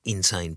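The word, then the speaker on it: Insein: prison in the world spelled i n s e i n but pronounced insane yeah and insane describes everything about it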